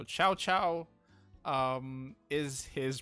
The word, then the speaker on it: Cao Cao: for pointing out the correct pronunciation of chow chow not cow cow so ciao ciao um is his pronunciation